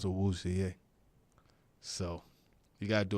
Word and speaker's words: Awuzie: It's like Awuzie, right? Yeah, Awuzie, but the English pronounce Awuzie.